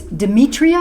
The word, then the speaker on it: Demetria: for which is very very important stuff it's Demetria my pronouncing your name right yes Demetri white but